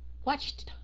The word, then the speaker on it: watched: Cái âm CH đó, họ nhiều khi họ nuốt qua luôn, họ không có cần mà phát âm ra.